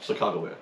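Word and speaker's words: Sacagawea: on the Lewis and Clark expedition arguablya no Chicago Bear yeah she would and that that is how you actually pronounce her name she was the most important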